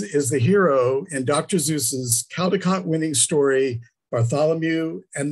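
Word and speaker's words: Seuss: inviting is dr zeus now i say zeus i've heard those other pronunciations whatever uh i was i grew up calling him dr zeus so that's what i'm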